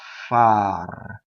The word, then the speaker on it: far: Nnaturale, non dà disgusto, e lo speziale non lo sa far. So far is down. It also rhymes with dar.